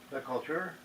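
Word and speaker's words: LeCoultre: is uh Mark louter I don't know how to pronounce this because it's I guess it's a French name l e c o u l t r e that culture and it's says me memox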